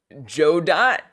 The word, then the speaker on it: Godot: You say it like Godot, got it, got it, Joe Dot, Joe Dot. Oh, no one agrees how it is read. I say Godot. It sounds fancy. Godot. It sounds very fancy, but I think